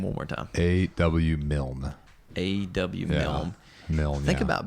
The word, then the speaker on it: Milne: A.W. Milne.